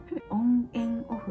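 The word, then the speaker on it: ONF: これなんて読むんだっけ。オン・エン・オフって読むんだ。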